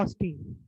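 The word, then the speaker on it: austere: अच्छा, ऑस्टी, इसको बोलते हैं ऑस्टी, आर ही साइलेंट रहेगा, ऑस्टी।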